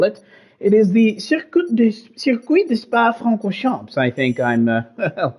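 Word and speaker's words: Circuit de Spa-Francorchamps: We are out here in Belgium, and, well, as the locals call it, it is the Circuit de Spa Francorchamps. I think I'm pronouncing that reasonably carefully as I can, but it should be an absolutely fantastic race.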